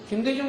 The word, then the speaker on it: 김대중: 일본 사람들은 뉴스에서이 누구예요 김대중 대통령이죠 이렇게 김대중이라는 발음을 일본 사람은 못 하니까 어떻게 했냐면 전부 다 자기식 음으로 풀어서 읽어 버렸어요 어떻게 읽었냐 그은 긴 다이 쭈 이렇게 발음 했어 김다이 쭈 이렇게